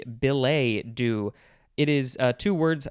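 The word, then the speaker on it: billet-doux: i can pronounce this billy do billy do could also be belay do it is uh two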